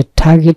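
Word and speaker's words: target: টার্গেট, এটা টার্গেট না, উচ্চারণটা হচ্ছে টার্গেট।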